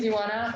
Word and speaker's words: Iwana: everyone my name is iwana it's pronounced like iguana without a g this is the easiest